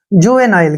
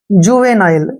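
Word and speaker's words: juvenile: ल के रूप में करेंगे और ई का उच्चारण हम नहीं करते हैं जुवेनाइल क्या पढ़ेंगे इसको जुवेनाइल जुवेनाइल का मतलब होता है बचकाना यानी कि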